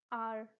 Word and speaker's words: hour: Because when you say it, you will understand. An hour. It gives out the vowel sound, right? Here H is silent and that is why we use an.